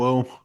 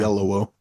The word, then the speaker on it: Oyelowo: I don't know if I'm pronouncing the name correct. Oyelowo. Yes, and Yeah, it Kaylee sounds like you're Cuoco. saying it wrong, but I guess that's how you say Oyelowo. it. Yeah. Oyelowo.